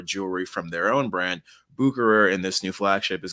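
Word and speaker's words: Bucherer: do it any better from what i've read online it's pronounced bucurer although i'm sure if you and i were friends we would say boucher or something like that um but buchurer 1888 time machine is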